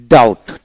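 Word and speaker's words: doubt: যেমন বি T date, DE টি date, B উচ্চারণ হবে না, ডেট মানে রেন। তারপর ডিও ইউ টি, ডাউট, ডাউট।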